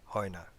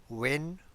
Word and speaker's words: when: যেমন what, wire, ওয়েন, ওয়াই, এগুলোর ক্ষেত্রে এইচটা সাইলেন্ট থাকে, এইচটার উচ্চারণটা হয় না বেশিরভাগ ক্ষেত্রে।